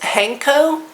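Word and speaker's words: 判子: and you also which I believe it's pronounced hanko you add your own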